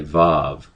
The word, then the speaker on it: Vav: But anyway, this letter right here is a Vav in the dialect that I'm learning. In other dialects, it's pronounced as like wall. I believe that's how you pronounce it, a wah. It's a W sound.